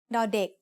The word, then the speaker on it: ด: As the initial consonant of a syllable, ดอเด็ก makes the sound d, just like the letter D in diamond.